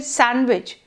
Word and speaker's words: sandwich: of a word like when we say sandwich this D is just not there so sandwich becomes sandwich or from the